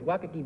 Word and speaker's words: Waikiki: Number two is Waikiki Beach. Do I pronounce that correctly?